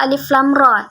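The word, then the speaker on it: الر: Nah, ra ini 2 ketukan atau 2 harokat.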